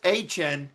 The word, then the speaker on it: Etienne: I forgot how he said it in his press conference for how it's Achan.